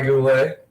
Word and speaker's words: Goulet: josh cool legs boulet as it is a french name the t is silent and janiece lifts and delivers and that is waved at and missed by goulet that was a slime